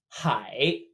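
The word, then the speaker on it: 海: sundean shui - may we have ocean pronounced hi hi the idea here being that an ocean is all of the water hi just like hi in English last wait wait this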